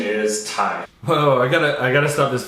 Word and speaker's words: Ti: matters, but for me, it's always been TI because it's short for titanium from a product that they had, so TI. And so the correct pronunciation should be TI. And so there we have it, it's TI.